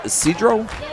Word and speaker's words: Isidro: 25-second clock is going to be Isidro Roman Jr., pronounced Cedro.